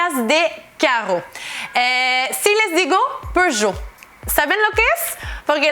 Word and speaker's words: Peugeot: Entonces, por eso es Peugeot. No pronunciamos la T al final de la palabra. Así que Peugeot es al final Peugeot.